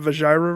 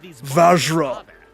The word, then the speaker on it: Vajra: As a matter of fact, is that an image of the flute going in betwixt that Vajira right there? It's pronounced Vajra.